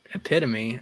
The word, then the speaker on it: epitome: we fully intend on providing the what epitome epitome oh yeah EP all right epep is the epitome of mispronunciations yes like I know the word EP